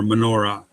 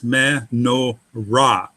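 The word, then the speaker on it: מנורה: Because Hebrew wants a closed syllable at the end, it's menorah.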